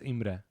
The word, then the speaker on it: Imre: of your name okay but I pronounce it Emir because nobody can pronounce IM IM is how it's supposed to be what's your last name